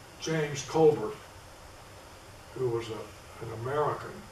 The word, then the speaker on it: Colbert: a scots ancestry and he called herself colbert actually he probably called himself culvert because that's the way he pronounced the name i'll call him colbert because that's what everybody calls it these days and i can never